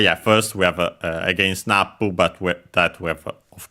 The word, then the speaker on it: スナップ: But yeah, first we have again Snap, but that we have of course already seen because it's the name of the game. Luckily accent on the na, just like in English, Snap.